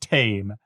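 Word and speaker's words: Thames: It's the whole point for why the river has an H in the spelling but is pronounced tame.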